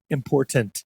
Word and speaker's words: important: The T is not silent. There T is is no important. There It's is incredible how many people make it to television and still can't say important.